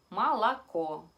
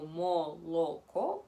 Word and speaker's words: молоко: La palabra leche, молоко, se escribe como moloko, pero nosotros simplemente decimos молоко.